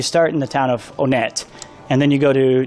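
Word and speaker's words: Onett: gets weird and dark that should be how it's pronounced because that's how anybody would say it the first time they played the game no one would say one at if you were saying that in English yeah yeah if you just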